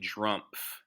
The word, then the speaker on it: Drumpf: very interesting that trump's family name is actually drumpf okay you can see it's spelled d-r-u-m-p-f so they changed their name to